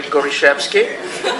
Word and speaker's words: Gorishevsky: For those who don't know, Richard Gorishevsky is our consumer, and I'm the only one who can pronounce his last name correctly, Gorishevsky, because I happen to speak Polish.